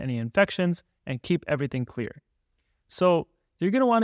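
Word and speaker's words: Xlear: my favorite nasal spray is something called clear but it's with an X so it's spelled x-l-e-a-r this nasal spray has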